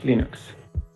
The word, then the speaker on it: Linux: Escuchemos al propio Linus Torvalds que nos decía: Hello, this is Linus Torvalds and I pronounce Linux as Linux.